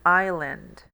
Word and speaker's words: island: específica uma ilha indefinida aqui o som do S ele vai ser mudo ele vai ser nulo espero que essa gripe